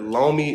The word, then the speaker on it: Lomey: But Lomi is spelled Lomey, and they also sell the Lomi glue that you can use to attach the base to the stand.